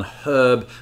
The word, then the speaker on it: herb: we're talking about pronunciation a lot of americans have a tendency to drop the h on herb whereas the british tend to keep it but that was not